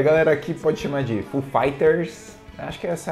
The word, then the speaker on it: Foo Fighters: Só que você vai pronunciar em inglês Foo Fighters. Foo Fighters. Tipo Street Fighter.